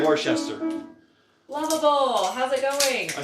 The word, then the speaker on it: Worcester: viewing it in Massachusetts, it's Worcester. Yeah. Which I don't even know how you get to that few syllables from that many letters.